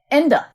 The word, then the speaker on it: Ende: And then I looked to see when Michael Ende, I don't know if I can pronounce his name correctly. It's German. I'm sorry? Ende.